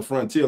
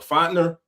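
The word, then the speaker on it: Fortner: I like the current center front how you pronounce his name? I dare to call him Frontier like the airline. The center. What, Fontner?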